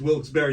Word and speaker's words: Wilkes-Barre: So the correct way to say it is Wilkes-Barre.